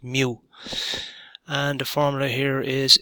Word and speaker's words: mu: the symbol for the mean there is called mu it's a great job right little tail on the front of the uterus pronounced mu and the formula here is e plus this